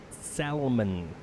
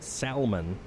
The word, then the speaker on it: salmon: are salmon in color salmon which is like an orangish red oddly enough and when per uh you know when you get people who pronounce it salman ah and mr puma has